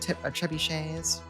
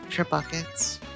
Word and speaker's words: trebuchets: Such short-range ballista, they should have splurged and brought trebuchets. I really had to resist the urge to deliberately mispronounce it as trebuckets.